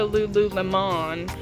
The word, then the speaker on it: Lululemon: You know, I'm not gonna go to Lululemon. I say it like lemon because it's bougie, like $80 pair of leggings bougie.